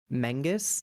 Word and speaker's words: Menzies: I think Menzies is who is apparently proper pronunciation is Mengus.